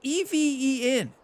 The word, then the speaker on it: Even: even was I thought the designer's name was Evan forever so in all these course showcase videos I'm like oh Evan this one's for you it turns out it's even yeah Ryan it's spelled EV en that's even Evan is EV in this is